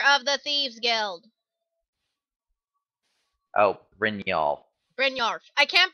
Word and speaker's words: Brynjolf: Bronyorf? Leader of the Thieves Guild. Oh, Brynjolf. Brynjolf. I can't pronounce, okay?